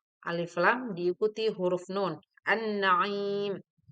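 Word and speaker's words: النعيم: An-Naim. Pelafalan bacaan alif lam samsiyah disebut juga idgham samsiyah.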